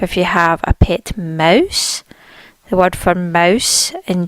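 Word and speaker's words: Maus: war-torn we see Mouse there's more emphasis on the owl sound Mouse here our next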